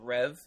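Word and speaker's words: Rêve: robot racing game called Rev but rev is spelled r-e-v-e like deja Rev so it has a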